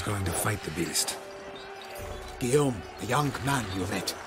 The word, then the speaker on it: Guillaume: demands great sacrifices guillaume let's say his name that does not look like how they spell it at all like phonetically guillen it's like it's like g-u-i-l-l-a-m-e or something like geargalm it's guillaum okay let's go see the